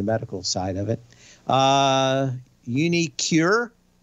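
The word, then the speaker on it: uniQure: side of it uh unicure i'm pretty sure that's the way that thing is pronounced q-u-r-e uh nice thing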